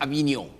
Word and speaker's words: Avignon: This word is pronounced Avignon. Avignon Papacy This means what is historically known as the Great Division.